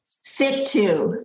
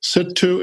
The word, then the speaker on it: Sittu: Sittu. Sittu and Jiddu.